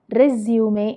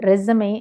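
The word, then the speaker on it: résumé: ഇത് നമ്മൾ പറയുന്നത് റെസ്യൂമേ എന്നാണ്. റെസ്യൂമേ. അമേരിക്കൻ ഇംഗ്ലീഷിൽ ഇതിനെ റെസമേ എന്ന് വിളിക്കാം കേട്ടോ.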